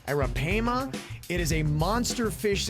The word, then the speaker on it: arapaima: predator fish oh my the arapaima i believe is how you pronounce it's a-r-a-p-a era pama it is a monster